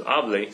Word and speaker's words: hable: Careful with your pronunciation of this, because hable, speak, is different than hable, which is I spoke in the preterite.